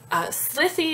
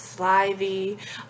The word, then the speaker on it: slithy: on guyer and gimble with the slithy is how i want to say that word but he wants it to be pronounced slivy wrath he says should